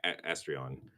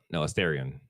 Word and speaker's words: Asterion: Astrion. No, Asterion. That's how you pronounce that name.